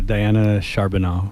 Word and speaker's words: Diana Charbonneau: always do with names and and you were butchered yeah uh diana charbonneau we're having diana charbonneau on yes with uh impact uh southern arizona